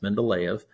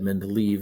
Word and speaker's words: Mendeleev: you hear this it's mendeleev is russian so um that's the way it's pronounced mendeleev uh i mean if you said men to leave it's okay but that's